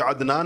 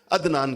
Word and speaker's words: عدنان: ہم تلفظ نہیں کرتے۔ مثلا میرا نام عدنان ہے، لیکن آپ میں سے کوئی بھی مجھے عدنان نہیں کہے گا، عدنان کہیں گے، حمزہ سے کہتے ہیں سارے کے سارے لوگ، تو عدنان تو حمزہ ہے یہ۔